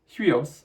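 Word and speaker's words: υἱός: rough breathing so you know it will be pronounced Hui and the noun in general is huios means Sun Jesus in the New Testament is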